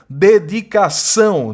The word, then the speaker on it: dedicação: A está sendo nasalizada, em vez de você pronunciar A, você pronuncia AN, seleção, dedicação, né? E são duas palavras oxítonas, porque a sílaba tônica é a última, né?